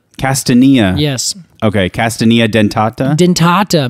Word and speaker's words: Castanea: love how you say it I would say castania castania yes okay castania dentata dentata meaning that it